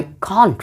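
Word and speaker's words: can't: British pronunciation, और आप कैन नॉट को कैंट भी बोल सकते हैं अकॉर्डिंग टू अमेरिकन प्रोनाउंसिएशन और यूएसए के प्रोनाउंसिएशन के अकॉर्डिंग।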